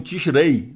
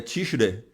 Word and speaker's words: Tishrei: Alguns pronunciam Tishrei, o Ei, dá ênfase no I, né? No tradutor que eu uso para ver o som é Tishrei. Ele não sai o som do I.